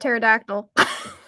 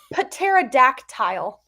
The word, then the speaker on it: pterodactyl: I need to spell the word pterodactyl. Pterodactyl. Thank you. Wait, there was a dad joke. Why can't you hear a pterodactyl go to the bathroom? Because the P is silent.